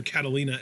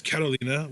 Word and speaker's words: Carolina: Then last week we had the debut of Carolina, who Vic Joseph cannot pronounce correctly. He calls her Catalina every time, but her name is Carolina, which is Carolina with a Spanish accent, because she's Spanish, guys.